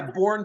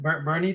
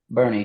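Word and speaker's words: Boerne: Yeah, Bourne, Texas. Okay. B-O-U-R or E-R, whatever it is. Bourne, Texas. That's About Bernie, 3.5 minutes. Texas. 3.5 minutes of totality. How do you pronounce it? Bernie, Texas? Bernie, Texas.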